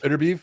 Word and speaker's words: Beterbiev: Beterbiev? Beterbiev.